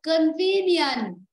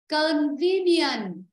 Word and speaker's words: convenient: Convenient. convenient. Đó, đúng rồi. Convenient, đó. Rồi âm 2, rất tốt.